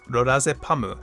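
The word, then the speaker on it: ロラゼパム: Apparently, she took it from the drug lorazepam, which is pronounced as lorazepamu in Japanese.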